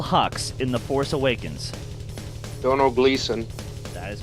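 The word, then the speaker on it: Domhnall Gleeson: who played general Hux in the force awakens don't know Gleason that is correct and that was even spoke right pronunciation Brian David's would proud of ya number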